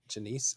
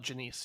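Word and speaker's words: Janisse: Kirla Janice, I think is how you say her last name. Kayla Janice, yeah.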